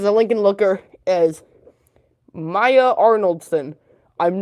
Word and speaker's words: Arnoldson: who goes as a Lincoln looker is Maya arnoldson I'm not good at pronouncing the name arnoldson a r n o l d s o n Maya arnoldson she gets put as a Lincoln